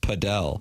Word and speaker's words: Padel: It's pronounced Padell.